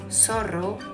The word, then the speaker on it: zorro: Most people in Spain, except for some regions, pronounce Z very similar to TH in English. So, while in Latin American countries we say zorro, zapato, zanahoria, pozo, in Spain people say zorro, zapato, zanahoria, pozo. Again, both ways to pronounce are correct.